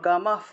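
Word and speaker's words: গমঃ: ক্লাইব্যম, ক্লাইব্যম, বয়ের সাথে জফল থাকায় বিয় উচ্চারণ, ক্লাইব্যম মাস্ম গামহ পার্থ, গামা, তারপর বিসর্গ থাকায় হ উচ্চারণ, গমহ, এই যে গমহ আর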